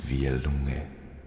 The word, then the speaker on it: Vielunge: In my native language, it is pronounced Vielunge.